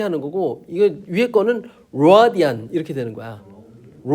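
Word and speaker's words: radian: 엘바음은 이걸 하게 되면 라디안 이렇게 하는 거고 이거 위에 거는 로디안 이렇게 되는 거야.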